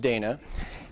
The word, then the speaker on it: Daina: name is Dana I know it looks like Diana but it's pronounced Dana and I work for Bluehost